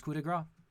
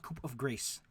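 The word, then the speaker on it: coup de grâce: do love that they mentioned how to pronounce coup de gras that's that's good rules if you remind people that it's not cope of grace Cup of grace all right you automatically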